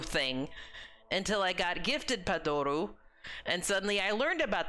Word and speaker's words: Padoru: until I got gifted Padoru and suddenly I learned about the Padoru and now I have my own Padoru. Take a shot every time I say Padoru and mispronounce Padoro, too.